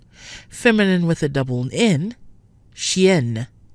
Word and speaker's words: chien: already mentioned so again when a vowel or vowels are followed by a double in or em in the same syllable the sound is no longer nasal so xie CH ie in is nasal but the feminine form with two ends CH ie in in E is not Chien masculine Xie nasal